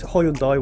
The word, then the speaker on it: Hyundai: It's Hyundai, whatever you want to like.